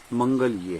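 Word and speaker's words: मङ्गल्ये: पहले तुम समझ लें कि जो उच्चारण है हम लोग कई बार ठीक नहीं करते। सही उच्चारण जो है वह मंगलिये है, सर्व मंगल मंगलिये।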